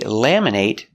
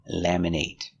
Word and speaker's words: laminate: license is laminated they laminate your driver's license laminate is a verb with a long a sound laminate but what if it's not a verb laminate we make these short it it sound laminate